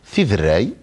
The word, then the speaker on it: Tiderray: Eh ben voilà, vous l'avez très bien prononcé. Fidrei.